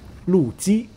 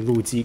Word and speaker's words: Lu Ji: Then lastly, we have Lu Ji. So both L-U, but pronounced slightly different tones on the surname.